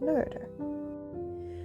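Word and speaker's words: Noether: superpowers look actually I believe it's pronounced nerder when most of themes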